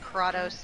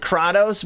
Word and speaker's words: Kratos: There's a character named Kratos in Tales of Symphonia. Yeah. Well, here's the thing. It's interesting how some pronounce it Kratos, but it is also Kratos.